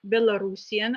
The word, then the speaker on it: Belarusian: the representatives of 14 national minorities which are belarusian and this is the proper way to pronounce this uh adjective bulgarian creation hungarian german